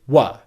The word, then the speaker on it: were: use the long pronunciation but the majority of the time we're going to use the other pronunciation of this word in english which is wha why is that it's